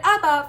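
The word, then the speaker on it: אבא: syllable so for example the word Abba follows the typical rule in which the emphasis is on the second-to-last syllable of the word which is weird because it's also just a two syllable word so it feels like it's on the first one the word I have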